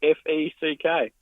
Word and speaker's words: Feck: It's spelled Feck. Whoa! Feck. Feck.